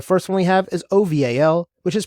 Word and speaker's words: OVAL: and ARF the first one we have is oval which is pronounced oval now oval is the open vulnerability and assessment